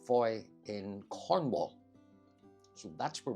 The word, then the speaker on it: Fowey: F-O-W-E-Y is how it's spelt, but I think it's pronounced Fowey.